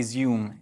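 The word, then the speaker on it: Izium: for me to say zoom is the pronunciation um really harrowing sight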